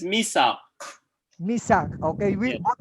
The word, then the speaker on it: Misagh: Is it Misa or Misag? It's Misagh.